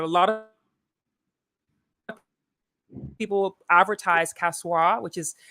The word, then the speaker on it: Kasoa: of things happening in the city avoid avoid kasoa beginning of the central region but a lot of people advertise casual which is spelled uh k-a-s-o-a I should probably put out